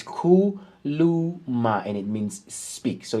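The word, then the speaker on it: khuluma: If you want to pronounce it correctly, this is how you spell it below. If you look here down below on my left hand side, it's Kuluma, and it means speak.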